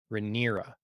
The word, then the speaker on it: Rhaenyra: Rhaenyra.